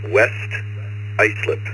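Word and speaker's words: West Islip: Uh, my town is pronounced West Icelip, but uh, the log hasn't caught up with me.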